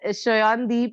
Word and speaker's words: Sayandeep: And he's like, no, it's pronounced that way. So Yeah. since that Shayandeep, I always, so it's